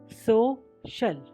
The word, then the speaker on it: social: अब C के बाद IA अगर आता है तो C का स्वर श हो जाता है। SOCIAL सोशल।